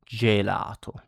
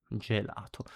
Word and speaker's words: gelato: So e or e in Italian it's pronounced like j in jam in uh English like examples are gelato ice cream gelato j gelato and jirro this means circle or circle around depending on the situation.